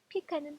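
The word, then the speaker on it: pecan: 예를 들어서 뭐 여기 피컨이라고 하는 단어가 있는데 피컨에 대한 발음을 좀 다르게 이렇게 얘기할 수가 있죠. 피칸은 피칸 또는 비켄이라고 말할 수 있어요.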